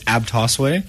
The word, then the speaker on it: Abtosway: of says it differently you know it's it's abas way AB but everyone kind of pronounces it differently it is kind of uh